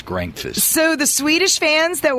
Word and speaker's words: Grankvist: Grankvist. Grankfist. It's not quite breakfast. It's Grankfist.